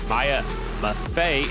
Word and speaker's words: Maya Maffei: That is Maya Maffei is how you say the 28.